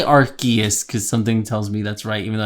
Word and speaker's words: Arceus: You're right, no matter how you pronounce it. Okay. I'll say Arceus because something tells me that's right, even though that's never what I would say.